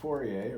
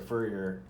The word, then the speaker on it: Fourier: a picture of Joseph Fourier or Fourier it's kind of pronounced like a furrier uh is but it's Fourier or Furrier or Fourier talks about his position